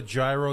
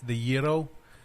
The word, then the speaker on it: gyro: Island however the most people call it a gyro the actual pronunciation is the yo the yo sandwich it's got to be my